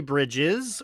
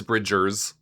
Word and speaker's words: Bridgers: Question, is there a Phoebe Bridges or have I just been mispronouncing fame superstar Phoebe Bridgers' name wrong the whole time? Uh no, it is Bridgers.